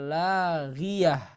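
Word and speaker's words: لاغية: La tasma'u fiha laghiyah ya. Jadi bukan ghiyata enggak, tapi ghiyah ya, seperti itu ya. Jadi bukan ghiyatan tapi ghiyah.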